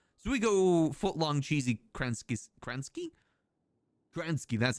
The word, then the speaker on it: Kransky: So we go footlong cheesy Kransky?